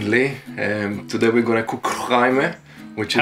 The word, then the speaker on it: chraime: Today we're gonna cook chraime, which is How do you say that? Chraime. What? Which is a Moroccan Chraime. dish, very North African. Chraime is actually an Arabic word, that's why it's so deep.